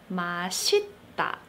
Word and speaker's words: 맛있다: I'm going to address why 맛있다 is pronounced with a 시옷 sound, 맛있다, but 맛없다 is not pronounced as 맛없다.